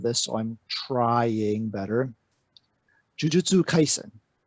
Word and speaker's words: Jujutsu Kaisen: Well, I keep on doing that whole English thing of trying to put emphasis on syllables, and she has to remind me that that's not a thing.